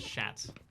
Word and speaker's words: chat: So, cat, chat in French is pronounced as shat.